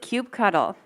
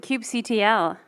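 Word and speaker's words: kubectl: all right quick pull who pronounces it Cube cuddle who pronounced this at Cube CTL whoo wow clear preference here uh any other pronunciations Cube control right why didn't I not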